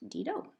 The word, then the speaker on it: Didot: And it's called Didot, which is actually pronounced Didot right here.